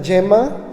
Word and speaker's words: Gemma: l'italienne prononce meilleur les l'italien ça s'appelle Santa Djema donc elle aussi